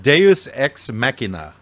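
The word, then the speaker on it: Deus ex machina: God in the machine believe it's Deus X mackina is the pronunciation of that which that means that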